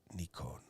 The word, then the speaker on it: Nikon: remember correctly something of that nature anyway it's nikon okay there you go let me let me